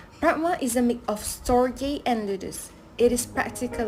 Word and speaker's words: Storge: Next is Storge, pronounced Storge.